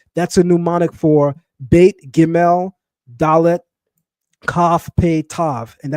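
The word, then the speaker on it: gimel: The hard pronunciation of the letter GL is a G is a G like give me like going. The soft pronunciation Sonetta is a J like Jamaica.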